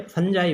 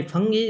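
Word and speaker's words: fungi: भाई फंजाई, फंगी भी बोल देते हैं इसको प्रोनाउंसिएशन में।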